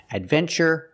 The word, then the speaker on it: adventure: We pronounce the TU with the ch sound, like chicken, when there's no stress after the T. In these words, there's no stress after the T, so we pronounce it ch. Adventure, furniture, nature, and natural.